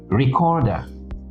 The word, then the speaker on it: recorder: Where would you stress it? What syllable? Where is it stressed? Second syllable. Recorder. Tape recorder.